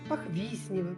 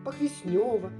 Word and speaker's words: Похвистнево: сразу провели его произнести как только не говорят похвистнево похвистнево вы правильно надо говорить по с ударением 1 название города происходит от